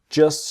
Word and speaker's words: just: So the T in just is silent and the T in shouldn't silent. Things just shouldn't be so complicated.